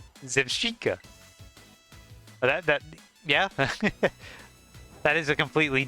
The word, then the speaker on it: Zebstrika: It's pronounced like paprika. Zevshika.